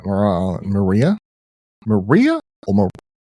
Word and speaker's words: Maria Island: Maria Island, Maria? Maria or Ma Maria I think it's Maria, actually. M A R I A. That's definitely Maria.